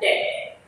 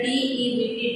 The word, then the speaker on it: debt: So, taking loan in her situation, instead of giving her profit, gave her debt. Here D-E-B-T, debt means karza, and B is silent, so we will call debt.